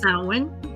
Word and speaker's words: Samhain: But Halloween's origins date back to an ancient Celtic festival called Samhain, and it's a M-H-A-I-N, but it's pronounced Samhain.